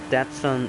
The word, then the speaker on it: Datsun: it's not that son originally of course in english it would still pronounce it that sun that's um sorry you know datsun that sun um you would pretend that son in english but i think it's tati san or tati-san originally and nissan there's um